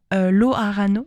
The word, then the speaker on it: Loharano: Le premier, c'est le 14 juin avec Loharano. Ça se dit Loharan, ça s'écrit Loharano, mais ça se dit Loharan.